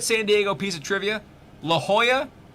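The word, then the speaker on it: La Jolla: My favorite favorite San Diego piece of trivia, La Hoya is spelled wrong. They name they tried to name it the jewel which is J O Y A and they spelled that city J O L L A because they just assume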